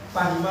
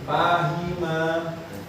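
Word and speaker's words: فَهِمَ: contoh lagi tadi misalnya pahima tadi nah coba dicari mudornya apa tadi Ya. Tadi bacanya apa? Pahim. Fahima ya.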